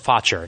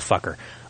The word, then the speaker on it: Faucher: That's Faucher, by the way, not fucker.